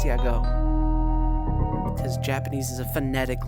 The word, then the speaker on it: YAGOO: I was I always think yagu because of the double o and that's like that makes the ooh sound but everyone always says yago so I assume it's yago because Japanese is a